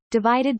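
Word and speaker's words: ÷: Sheeran's third album, Divided by Pronounced Divide, was released in March 2017, and was the best-selling album worldwide of 2017.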